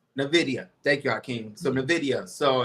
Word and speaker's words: Nvidia: know about is uh uh I can't even pronounce it it's uh n NV ni ni n Nvidia Nvidia thank youim so Nvidia so a lot of